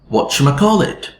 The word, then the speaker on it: whatchamacallit: So what you becomes watcher, like that. Now let's go to may. And may is pronounced with the normal diphthong a. But in connected speech, in order to make it faster, people started saying m. So the whole phrase ended up like this.